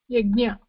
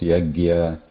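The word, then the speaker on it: यज्ञ: Yaja, and there is a nya. Okay. Yajna. Yajna. So many times this is confused, as in many areas it is pronounced yagya, something like that, yagya or whatever.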